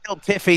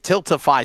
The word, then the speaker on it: Tiltify: And Tilt Tiffy, didn't I? I was even trying to correct myself and I still butchered it. Tiltify. So I said Tilt Tiffy.